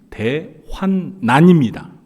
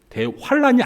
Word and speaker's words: 대환난: 대환란 발음합니다 그런데 사실 정확한 발음은 대환난 대환란이 아니에요 대환란이 라고 읽을 경우에는